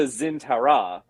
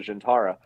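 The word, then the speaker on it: Zhian'tara: they did mention the they mispronounced it they called it like the the zintara or something when it's in ds9 it was called the gentara when do you remember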